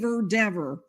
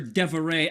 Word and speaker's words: Dever: Boston police officer Kelly, don't call her Dever. Officer Deveray.